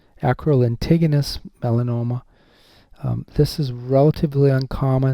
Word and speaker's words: lentiginous: Like from Acral lentig, like big, tig, enus. Acral lentiginous melanoma.